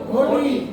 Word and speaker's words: ঘটি: ঘটি। নদী বলবো না নদী বলবো? নদী। বধূ বলবো না বধূ বলবো? বধূ বলবো। মানে আমরা মুখটা গোল করে উচ্চারণ করবো, তাই না?